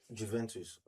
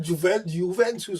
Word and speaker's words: Juventus: The J don't It's soft. in Italian language because I only pronounce it in the original way. But if Nigerians are pronouncing it, you have to, or Africa, we have to pronounce the J.